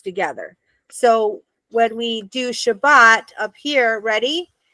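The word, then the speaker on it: שבת: It's Sha, Ba, T. Does that make sense? So it has to go together because this is Sha, okay? And this is Bat. This is a closed syllable. So it's a consonant, vowel, consonant. So then we know this is Sha and this is Bat. So it's Shabbat, Shabbat.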